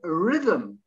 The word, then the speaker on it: rhythm: h again mechanic uh the next one rhythm yes i suppose the h slides in and next to the eight to the letter y a rhythm rhythm okay so it's virtually a silent h and the next one